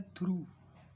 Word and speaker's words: through: एक होता है थ्रू, THROUGH, थ्रू, थ्रू, थ्रू, ठीक, इसमें GH साइलेंट है।